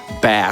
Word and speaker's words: Bass: I mean, there's there's something really satisfying about seeing bass or as Babs calls them, bass. Bass. It's like a fish.